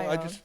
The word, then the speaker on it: Ione: Now, Ione. I want you to say it properly. Ione. Ione? Like I own a Mercedes. That's right. I own a castle. I own a mirror.